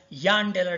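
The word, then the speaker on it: Jahn–Teller: John Taylor effect or John Taylor distortion. Our professor used to pronounce it as Jan Taylor distortion. He used to say that this J should be pronounced as Y.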